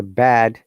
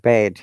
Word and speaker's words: bed: We need to be careful. Bad and bed. This is bed. B-E-D, the sound. Okay. Bed. So don't be mixed up with bad. And then your listener will understand something as if you don't pronounce this word correctly. Bad, which is not good, evil. Bed, where people sleep.